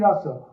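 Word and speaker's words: रास: And Ras here has a long A in Sanskrit, means that what is rasa with a short A is being tasted.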